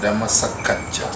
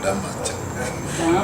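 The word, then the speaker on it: Dhammasākacchā: I said Dhammasakacha means Dhamma discussion. No, Dhammacakka.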